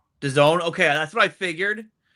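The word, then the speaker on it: DAZN: Done. Done. Okay, that's what I figured. Um but I I just wanted to be sure. Uh so it's going to be on Done now.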